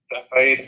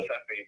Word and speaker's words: Cepheid: The other one is called a Cepheid. I'm going to spell that because I get it wrong every time pronouncing it.